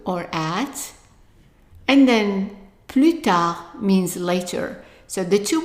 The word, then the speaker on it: tard: And then the third one, D is silent. Tard, tard.